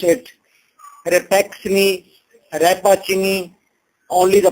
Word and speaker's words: Rappaccini: Don't pronounce it Repaxni, Rapachini, only the pronunciation for you, that's the easy one, and that is Repaxni's daughter. That is not an English name, actually that is an Italian name.